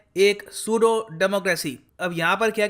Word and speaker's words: pseudo: और जो ये शब्द है यहाँ पर PSEUDO, इसको हम पेसूडो नहीं बोलेंगे, यहाँ पर P साइलेंट होता है, इसको हम प्रोनाउंस करेंगे सूडो।